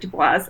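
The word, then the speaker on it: Du Bois: quote the other day he pronounces it dubois um and basically he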